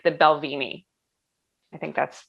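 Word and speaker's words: Balvenie: thing i i my favorite is like the belvini i think that's how i'm pronouncing it the right way no you're right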